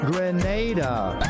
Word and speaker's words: Grenada: Grenada.